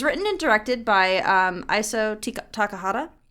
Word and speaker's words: Takahata: But it was written and directed by Isao Takahata. I almost said Tikahata. That's not right.